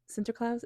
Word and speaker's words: Sinterklaas: Sinterklaas is how you say that.